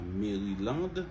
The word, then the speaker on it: Maryland: Maryland. C'est pas Maryland, c'est Mary et puis land. Maryland. Atlanta.